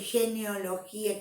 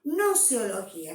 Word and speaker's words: gnoseología: Entonces nos cuesta por ahí por ahí dicen genealogía, geneozoología, no, gnoseología. Sabemos que al escribirla lleva una G.